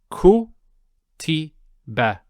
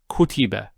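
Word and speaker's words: كُتِبَ: So ku ti. Ku ti. And then finally the ba with the Fatha. So it would be ku ti ba. Kutiba.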